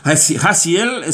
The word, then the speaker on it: Jasiel: Gesiel se escribe, bueno, yo. Con J. J-A-S-I-E-L, Gesiel.